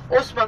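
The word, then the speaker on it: Haussmann: bir şehir yap diyor Osman kim hausman yazılıyor Osman okunuyor Vali valisini çağırıyor ve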